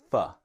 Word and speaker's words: for: Now for can be fa. When we speak a little quickly, it can be fa. Now, for is the strong pronunciation of for, with this strong or sound, right? Fa is the weak pronunciation.